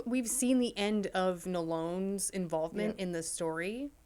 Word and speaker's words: Nolon: I don't think we've seen the end of Nolone's involvement Yep. in the story. Watch it be Nolan this whole time. His name. Yep. I say Nolone because it's spelled like this restaurant in town called Talone.